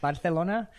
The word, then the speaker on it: Barcelona: enough Billy didn't know that it was actually pronounced Barcelona so we get out there and people are